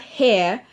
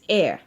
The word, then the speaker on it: heir: like a yeah yeah it's not hair his air not air you breathe it's all sound the same but it's different okay